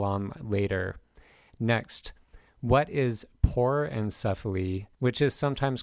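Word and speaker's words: porencephaly: into more detail on later next what is pore encephaly which is sometimes called a porin cephalic cyst that is spelled p o r e n c e c-e-p-h-a-l-y por encephali is a mild form of hydrancephale in which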